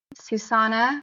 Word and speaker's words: Sushanna: My personal page is my name Susana which is spelled s u s h a n a and my last name is.